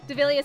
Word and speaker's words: Devilia: Devilia says, hey Rhea, to pronounce my name as Devil and with the Leah at the end, Devilia.